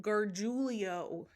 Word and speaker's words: Gargiulo: His real name is Michael Gargiulo. Gargiulo. I had to spell it out how I say it because I couldn't.